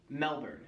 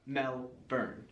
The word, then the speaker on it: Melbourne: you go to Australia do not call the city in the South Melbourne that's not how they pronounce it there in Australia it is melbour melin not melburn locals will love to